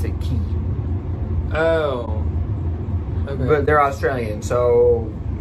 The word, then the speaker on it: Quay: there are strange qu a why but they pronounce it key oh but they're Australian so somewhere in translation